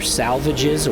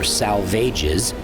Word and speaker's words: Salvages: Eliot poem by the same name, where they were made to rhyme with assuages. As a result, many people today still call them the Dry Salvages. Whether salvages or salvages, these rocks likely got